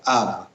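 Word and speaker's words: אב: el prefijo del padre padre en hebreo se escribe con una alef y una bet por lo tanto se pronuncia AB y también cuando se hace una referencia de mi padre se eh le acompaña con una letra yod y por lo tanto se conforma el vocablo Avi Pues bien de estas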